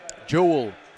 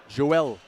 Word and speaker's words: Joelle: to tell us properly Jewel from evil Joelle Joelle as in Billy yeah jewel is more the the English pronunciation yeah Joel this is